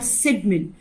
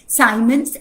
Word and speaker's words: Symonds: Sports goods company called सिडमिन. ये सिडमिन company हमारे इलाहाबाद की ही थी. इनफैक्ट इसकी स्पेलिंग है साइमंस, SYMONDS.